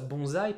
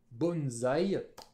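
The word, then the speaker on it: 盆栽: pourquoi en france en français on prend ça bonsaï parce que quand on a un ace coincé entre une consonne voyelle on le prononce comme dans comptes sonne d'ailleurs un nom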